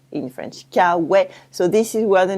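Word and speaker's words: K-Way: American and made it cow way to sound American but no one pronounced it in an American Way cow wet in French cow wet so this is where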